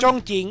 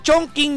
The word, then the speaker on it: Chongqing: Chongqing, isang Pinoy lang ang nakita ko.